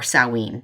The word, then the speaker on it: Samhain: is halloween but um samhain or salween depending on how you pronounce it on where you're from but um this is